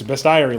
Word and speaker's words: Bestiary: Guys, it doesn't have an e in it or it doesn't have an a in it. It's Bestiary.